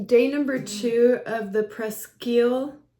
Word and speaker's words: Presqu'ile: today's video is day number two of the presel it's presel I confirmed that that's how you pronounce it uh 2023 Pino Noir from Santa